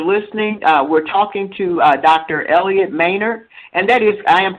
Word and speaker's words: Elliott Maynard: Elliot Manor and that is I am pronouncing that correctly right yes okay when I